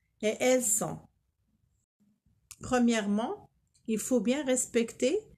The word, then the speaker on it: elles sont: On ne dit pas ils sonnent, elles sonnent. Non, on ne prononce pas le N. On dit ils sont, elles sont.